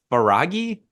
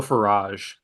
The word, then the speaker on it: Farage: say that dude from the Irish Times Nigel faragi yeah fade is that it I don't know how pronounce it duped into using Republican slogan in birthday video message oh Nigel farage I that's it yeah the duped duped this